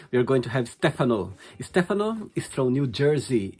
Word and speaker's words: Stefano: saying your name right stefan or stefano stefano you're staying at the italian way which is the correct pronunciation so thank you for